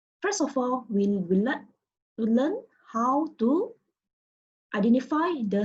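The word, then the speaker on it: 好: And this is a good example because this character, which means good, pronounced as how, consists of three elements, which are tone, initial, and finals.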